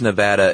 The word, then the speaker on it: Nevada: who live in Nevada, telling us kind of firmly that we're saying it wrong, and please say it right from now on. Yeah, they say it's Nevada, and my response is always the same.